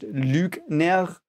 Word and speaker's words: Lügner: It's pronounced Lügner. Now we've got the last of the weird fly shit things. It's a U. The fly shits above it. It's called Ü.